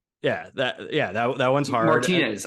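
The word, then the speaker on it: Martínez: I asked my Martinez. Girlfriend. Yeah. She's like, no, Martinez. Yeah. She's like, no, it's Martinez. Like the accent isn't there. It doesn't make any sense. It's Martinez. No one says that. Yeah. And that's how I would pronounce it also.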